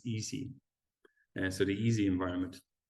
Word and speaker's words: EESSI: little bit right so the way we pronounce that is easy so the easy environment